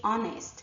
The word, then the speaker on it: honest: Honor, our, ear, and honest all begin with an H, but the H is silent.